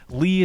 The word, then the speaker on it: Leah: how what is leah there is no a at the end lee is a name with four silent letters sixty percent unnecessary here lee she's already